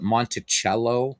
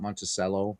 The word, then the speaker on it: Monticello: Call it Monticello, not Monticello.